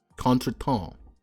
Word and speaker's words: contretemps: Actually, courtly contremps. Contremps? Is that how you pronounce it? Contretemps.